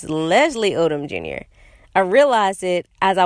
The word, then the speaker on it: Leslie Odom Jr.: I was calling him Lee Odom Jr. and it's Leslie Odom Jr.